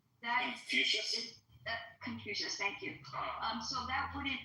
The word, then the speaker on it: Confucius: Like confusion, like if I'm pronouncing it right, the Chinese philosophy, right? That Confucius. Confucius, thank you.